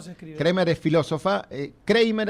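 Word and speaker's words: Kreimer: Kramer es filósofa, Kramer así como suena, K-R-E-I-M-E-R.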